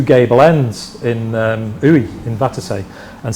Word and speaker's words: Uidh: I think Uy is how you pronounce it.